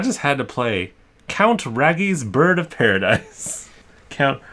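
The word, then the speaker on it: Raggi's: Raggy's. It's like a double G. It's from Australia. Who knows how they pronounce it over there? No, you know what? It's Australia. It's probably hard G.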